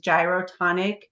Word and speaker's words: Gyrotonic: on the screen and if you sound it out that's exactly how you say it which is gyroonic.